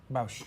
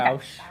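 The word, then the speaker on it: Boushh: Bausch. Bausch. Okay. Bausch.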